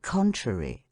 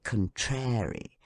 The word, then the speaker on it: contrary: and first syllable the and in contrary on the first syllable con how shocking it is to hear people say contrary theater the friends of Education